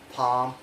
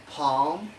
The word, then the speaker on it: palm: The letter L only has one rule, that is usually not pronounced after the vowel of the letter A, O, and U. For examples like calf, half, palm, wool, should, could, folk, yolk.